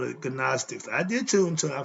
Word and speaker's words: Gnostics: Gnostics, the G is silent in front of the N. They call it Gnostics.